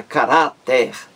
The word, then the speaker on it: caráter: A palavra caráter, três sílabas.